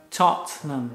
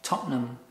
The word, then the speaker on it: Tottenham: Porque ¿cómo se pronuncia? Tottenham. Tottenham. Tottenham. Tottenham Hotspur, also known as Spurs, or the neighborhood of Tottenham.